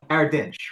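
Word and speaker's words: Erdinç: It was uh Ardinch with the the silent H at the end in there's a sadilla at the end of the I hate this.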